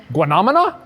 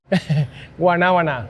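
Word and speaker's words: guanábana: If you can pronounce I it. I can say soursop. I know how to say soursop, but guanamana? Guanabana.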